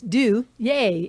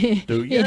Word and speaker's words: Duje: his name right now, and it's Do Yay. If you, Duje. and it's spelled Duje, which looks like Duge, or like the John Wayne Duke, I've been or called worse.